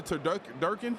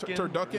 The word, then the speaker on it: Turducken: I tried the turduck durkin. Am I saying it right? Turducken. Yeah.